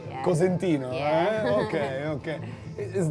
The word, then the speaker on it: Cosentino: How do people pronounce it in the States? Like Constantino or Corsentino. Right. And then they spell it like Consentino, and like All right. they always fuck it up. So I was like, it's Cosentino, it's spelled this way.